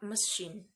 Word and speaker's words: machine: And finally, the A in the word machine is pronounced as very weak. In this sense, sound represented by an upside down E, machine.